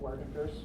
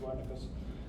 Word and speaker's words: Wernicke: We'll talk about Wernicke's or Wernicke's. The Germans pronounce it Wernicke's.